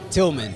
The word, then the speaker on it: Tillman: say the first name Tillman tman yeah like Tilman fatita but better cuz I have two L's he has one yeah